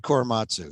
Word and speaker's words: Korematsu: Is that how it's pronounced? Yeah, Fred Korematsu.